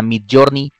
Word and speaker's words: Midjourney: Existe, por ejemplo, para la parte de imágenes, está Midjourney, que se escribe M-I-D y después Journey, como en inglés.